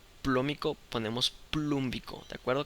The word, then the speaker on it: plúmbico: Cambiamos la O por la U. Óxido, como en este caso es la valencia mayor, vamos a poner óxido con acento en la U, plum, terminación ico, óxido plúmbico.